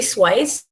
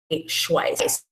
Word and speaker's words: Schweiss: So Jody Swice is a Schweiss, E-I-S-S, I want to pronounce that correctly.